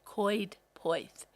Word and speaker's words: Coed Poeth: where called Coed Poeth, but it's spelt Coedpoed, but you say it Coed Poeth, and that was the name of the village.